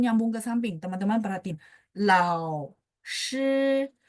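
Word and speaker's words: 老师: Kalau launya tunggal sendiri kan lao. Ya, agak naik kan. Tapi kalau misalnya dia sampingnya ada huruf lain, berarti lao. Turun naik dikit, habis itu nyambung ke sampingnya. Lao shi, lao shi. Ya, kayak gitu ya teknik untuk baca.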